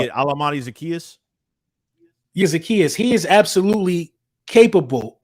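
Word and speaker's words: Olamide Zaccheaus: man because what's his name was his name Ola case am I saying that right he is I say it wrong I can correct al-amani Zacchaeus yes he is absolutely capable of taking ques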